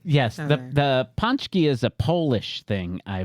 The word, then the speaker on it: pączki: Was I wrong when I said Potski? So you were a little was wrong. Yes. I was less right. Yes, Okay. the pączki is a Polish thing, I believe, Mm.